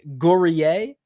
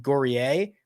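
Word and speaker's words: Guerrier: would go um Julian gorier believe he's French which is why I'm pronouncing it that way is $5,600 this is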